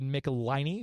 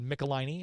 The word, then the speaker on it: Michelini: Games, Larry sponsored David Michelini, who I just found out was David Michelini and not Michelini. I'd been pronouncing it wrong this entire time.